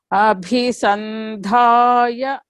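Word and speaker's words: अभिसन्धाय: Abhisandhaya. Samriddhi, Yes, sir. you have to chant Repeat, after repeat. Madam. Yeah. Abhisandhaya. Abhisandhaya. See, bhi, dha. You have to stress, okay?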